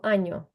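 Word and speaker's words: año: Як ви чуєте от Послухайте мене коли я кажу аньо що ви чуєте нь чи нь нь Ань аньо Нью нь бо є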